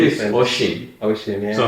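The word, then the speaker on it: Oisín: My name is Oshin. Oshin, yeah. So how do you write it? Like when I ask someone, okay, kindly, can you spell what is Oshin?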